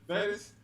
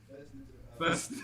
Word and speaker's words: Festus: As Bro, is it Fetus? Festus. Oh, Festus?